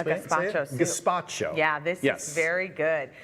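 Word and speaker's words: gazpacho: She's making a light version of gpacho. Is that how you say it? Gpacho. Gaspacho.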